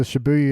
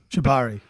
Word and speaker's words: Shibari: mean when you can what I'm going to mispronounce is the shibuy or not with your own limbs uh yeah that's that's Kink Shibari Shibari thank you yeah the alternate to how